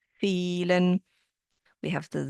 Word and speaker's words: vielen: Then we have the V sound that sounds like an F, vielen.